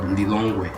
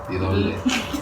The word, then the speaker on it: Lilongwe: The capital is called Lilongwe. I don't know if you can pronounce it. Lilongwe.